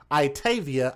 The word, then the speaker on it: Itayvia: I'mma spell that for you guys. Itavia.